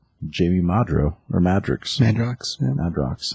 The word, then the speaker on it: Madrox: Madrox. I think it's the X is silent. I'd say Madrox because it sounds cooler.